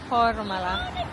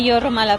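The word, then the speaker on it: Jūrmala: Welcome to We're back to Horumala. Ah Yorumala pala. The J here is pronounces Y.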